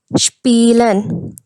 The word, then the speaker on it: Spielen: In this combination of S and P, the sound will be sh. Sh. The first example we have is Spielen. Spielen.